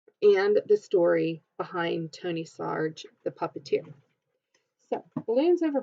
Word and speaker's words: Sarg: Sarge and it says Sarge rhymes with argh that sword argh ok